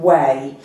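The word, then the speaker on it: Ouai: Um and it's a hair brand called Wei. So it's spelled o u a i and you pronounce it as we and it's a parizian French Parisian slang term for yes.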